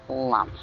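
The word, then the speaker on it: Lam: loud Lum it's spelled phonetically L but it's pronounced Lum so just Lums inhale Lum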